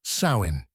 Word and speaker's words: Samhain: On the night of October 31st, the Celts gathered around roaring bonfires for a festival they called Samhain, pronounced Samhain.